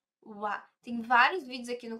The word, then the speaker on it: は: no lugar das tículas e não falo ra sim a pronúncia ali naquele momento ele vai ser u ua tem vários vídeos aqui